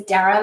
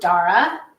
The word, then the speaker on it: Dara: So I usually say my name is Dara, like Sarah. Some of my dear friends pronounce it Dara. That's okay too.